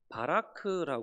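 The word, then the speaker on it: בָּרַךְ: 인에게 복을 주시는데요 이때 복이라고 하는 말브 원어를 바라크라 이렇게 발음을 합니다이 단어의 의미는요 흔히 우리가 이해하고 있는이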